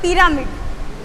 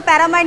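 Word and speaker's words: pyramid: सही तलफ़ुज़ होता है पिरामिड, पिरामिड। हाँ जी, तलफ़ुज़ को पैरामाइड नहीं, इसको पिरामिड कहना है।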